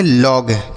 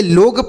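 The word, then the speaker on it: log: ना तो इसे लोग पढ़ेंगे ना तो लाग पढ़ेंगे। क्या पढ़ेंगे? लॉग। जैसे यहां पर लगाना है चांद बिंदी आपको लगा देना है।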